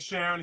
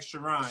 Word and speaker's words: Charan: I was like Sharon. He was like Charan. Charan. He said Charan.